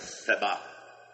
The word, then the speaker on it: Seba: Do meio daquela multidão que acompanhava Absalão, surgiu um rapaz, o nome dele tá aqui mais assim como Seba, mas originalmente é mais Sebá, só que a gente não vai pronunciar desse jeito, né?